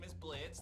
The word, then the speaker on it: Blitzo: Blitz, the O is silent, of course.